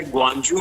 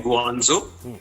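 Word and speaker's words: 广州: जी बिल्कुल, मैं इस वक्त चाइना के शहर ग्वांजू में हूँ, जिसे बहुत सारे लोग प्रोनाउंस करते हैं गुआंजो।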